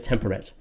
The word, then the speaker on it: temperate: It rhymes with a date. Temperate rhymes with short a date.